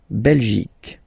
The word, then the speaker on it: Belgique: La Belgique, okay? Remember Q-U-E here, you will get only the sound k, okay? Belgique, Belgique. So it's not Belgique, not at all, okay? Because it's only the k. Belgique, okay?